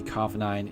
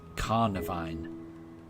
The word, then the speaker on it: Carnivine: Uh did I say Carvinine? It's Carnivine. Um probably. Yeah, I will mispronounce a lot of Pokemon. I'm certain I will. Uh, carnivine. Yeah, I guess like a carnivore.